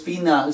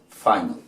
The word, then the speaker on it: final: Entonces final se pronuncia final. Final. Final. ¿Vieron? La I pasó a convertirse en ¿qué? En I, o sea, su sonido en inglés.